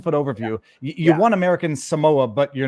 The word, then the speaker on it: Samoa: never been to American s that's how you pronounce it Samoa it's very hard for people here on the